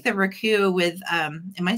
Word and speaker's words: Raku: I really like the Raku with, am I saying it right? I thought it was. Yeah, Raku.